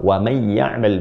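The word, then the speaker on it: وَمَنْ يَعْمَلْ: Dari fa may ya'mal mithqala dzarratin khairan yarah wa may ya'mal mithqala dzarratin syarran yarah. Pakai amal kan? Dan wa man, ya, pakai man kan? Terus ketemu dengan ya jadi idgham, wa may dibacanya ya'mal. Wa may ya'mal.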